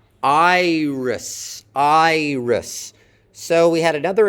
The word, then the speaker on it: Iris: In iris, it can't do that because no English syllable can begin with your. That's not a possible onset, not a possible way of beginning an English syllable. Note that iris ends with an S sound, not a Z.